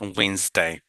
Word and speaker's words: Wednesday: সে ডি উচ্চারণ হবে না, তাহলে টুডে, দেখেন today is ওয়েন্সডে, our class is on Wednesday, I'll meet you on Wednesday।